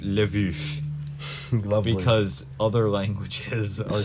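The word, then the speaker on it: Lwów: I have the pronunciation it spelled LW o w and it's pronounced live ish well because other languages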